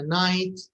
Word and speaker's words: night: GH in English is usually silent. And a night, and a sight, and a light, fight, might.